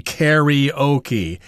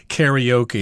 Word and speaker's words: karaoke: often pronounce this karaoke even though this spelling has an A in there but it's pronounced like an e karaoke karaoke have you ever gone